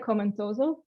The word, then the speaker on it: Akoma Ntoso: So we pronounce it Akoma Ntoso, but you will often see AKN as an